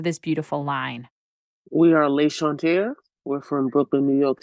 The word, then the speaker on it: L'Enchanteur: first of all you tell us your preferred pronunciation of this beautiful line we are Le Shante we're from Brooklyn New York City by way